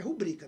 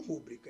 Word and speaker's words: rubrica: E o certo é rubrica, não rúbrica, hein?